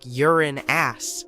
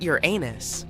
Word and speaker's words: Uranus: Astronomers say we should be pronouncing it like Uran ass, not Uranus.